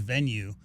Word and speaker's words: Venu: be and it's uh it's spelled ven pronounced venue but uh I don't